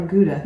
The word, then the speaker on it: Gouda: Did you say Gouda or Gouda? Gouda. Yeah, it's Gouda.